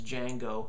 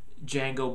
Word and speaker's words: Django: Jamie Fox is just unbelievably good as Django. The D is silent.